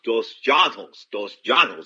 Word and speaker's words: dos Anjos: Dos Janos. That's the way he wants his name pronounced.